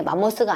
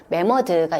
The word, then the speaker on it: 매머드: 근데 맘모스가 아니고 맘모스는 이제 일본식 발음이고 매머드가 있습니다.